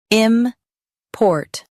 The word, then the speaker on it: import: im port im port Stress port and keep im light.